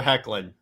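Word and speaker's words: Hoechlin: the way by Tyler heckin yes Tyler there's an o in there that's how it's pronounced that's how I've heard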